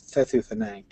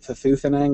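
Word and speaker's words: Thethuthinnang: Stress is on the first and last syllable, so it's Thethuthenang. But I mispronounced throughout my entire childhood, I mispronounced it Thethuthenang with a stress on the second syllable instead of the first.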